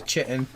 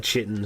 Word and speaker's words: chitin: And I guess they're going to have the chitin. Yeah, I would say they probably have a chitin, so their armor is going to be a little hardier. Isn't it chitin? It's pronounced both ways.